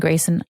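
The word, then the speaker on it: Graucyn: Grayson spelled g-r-a-u-c-y-n and Grayson I want you to know that Rachel told me to say your name that way I'm hoping I'm pronouncing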